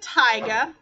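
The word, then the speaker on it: taiga: last type of forest this is the tyga that's how you say it um not the wrapper but the tiger is a region of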